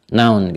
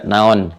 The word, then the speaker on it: noun: Noun, gitu kan? Dibacanya pakai bahasa Inggris ya, noun, bukan bahasa Sunda, naon gitu ya.